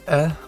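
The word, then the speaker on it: え: This E is indeed an E, and it's E like egg.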